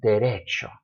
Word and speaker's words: derecho: Derecho, singular, add an S, derechos. It's still stressed on the next to the last syllable.